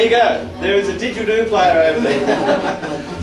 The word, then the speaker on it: didgeridoo: There is a didgeridoo player over there. So say didgeridoo, four syllables.